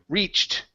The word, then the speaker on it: reached: All right, let's go to the word reached. Okay, same thing. Ed ending. This E does not make a sound.